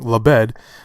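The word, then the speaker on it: Labed: leb d lebed sorry pronounce Willie I was pronouncing your name completely wrong lebed and charlotte rampling it I mean look I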